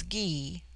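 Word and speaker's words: Gy: word for woman is GE pronounced hard as in guy it forms itself into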